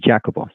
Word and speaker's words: Jacopo: Okay, in their vocabulary they have Jacopo and two more, but they pronounce like this, Jacopo.